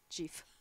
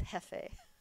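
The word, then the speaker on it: jefe: Because I once got in trouble with Susie Teekert because I said Jeef. And it's Hefe.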